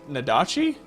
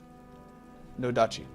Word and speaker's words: nodachi: It's a Daedric Nadachi? Nadoshi? It's Japanese, I can't pronounce it.